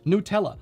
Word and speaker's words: Nutella: And the word was actually invented by Italians who do pronounce it Nutella, like most all Latin languages would pronounce it.